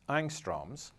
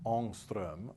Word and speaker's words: Ångström: Often for atoms we will use units that English speakers typically mispronounce as angstroms, and which correspond exactly to 1/10 of a nanometer. These units take the name of a Swedish scientist and should be pronounced Ångström or something like that.